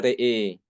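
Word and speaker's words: رأى: Dibacanya re'e, re'e kalau wakof. Tapi kalau wasol dibacanya ro'as syams, dibacanya fathah.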